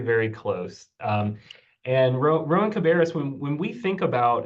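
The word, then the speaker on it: Rowan-Cabarrus: r CC Linda you did a great job pronouncing our name we're we're Rowan cabis very very close um and Ro Rowan cabis when when we think about uh the future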